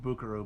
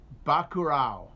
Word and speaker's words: Bacurau: By the way, I'm sure it's not pronounced Buckaroo, but I don't know. It's Brazilian. It's Portuguese language name for a town. Buckaroo? I don't know. Bacurau.